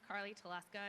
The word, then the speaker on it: Carly Teleska: And I have here Ms. Carly Teleska. I hope I pronounced your name correctly. And it says here you'll be at Lee F. Jackson Elementary School. Yes, that's correct. My name is Carly Teleska.